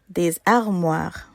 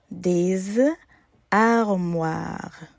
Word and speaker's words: des armoires: Des armoires. Des armoires. When a word begins in a vowel or silent H, the S in des is pronounced as a Z sound. Z. Des armoires.